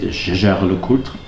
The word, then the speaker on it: Jaeger-LeCoultre: The very famous manufacturer Jaeger-LeCoultre, or as the French pronounce it, Jaeger-LeCoultre, they also have an